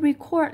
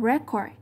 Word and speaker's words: record: Ở đây record lại đóng vai trò là động từ, nên nếu là động từ thì trọng âm sẽ rơi vào âm thứ hai. Thay vì đọc là record, giống như từ bên